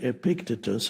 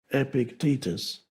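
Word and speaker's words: Epictetus: Epictitus I used to say Epictitus and then I realized that stress the stress is on the second syllable. Epictitus.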